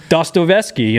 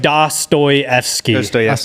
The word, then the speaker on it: Dostoevsky: And then we're also gonna throw in Crime and Punishment by Fyodor Dostoevsky.